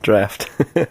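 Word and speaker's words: draught: you pronounce that word is it draw or draft draft one long draft i drink the entire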